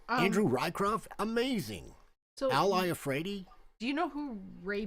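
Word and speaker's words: Iafrate: you pronounce his last name. Al Iafredi.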